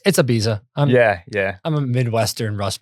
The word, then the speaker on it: Ibiza: It's Ibiza.